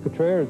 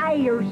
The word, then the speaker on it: Cutrer's: That's Cutrer's, lady.